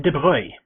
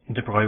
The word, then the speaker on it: de Broglie: I always thought his name was pronounced de Broglie, but it's, well, he's French, so there's all sorts of weird pronunciations in French. De Broglie is my best guess at how it would probably be pronounced.